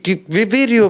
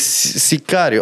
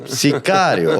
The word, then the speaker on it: Sicario: Video? No, ma'am. It's Sicario. Okay. Sicario. Sikivi? No, ma'am. Sicario.